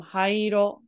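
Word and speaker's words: 灰色: This oh, right here is hai from hairo, which is gray. Hairo. Hai. So hairo. So it's a long E right here.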